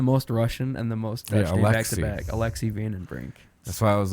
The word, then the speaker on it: Alexei: you say it oh the first name actually alexi my van is dodging oh his name is dodge so i have like a russian name i have the most russian and the most alexis that's why i was like is it a